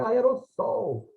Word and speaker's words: aerossol: Porque o S intervocálico soa como Z. E as pessoas estavam certas. E os gramáticos ficavam bravos e corrigiam as pessoas falando assim, não é aerosol, é aerossol.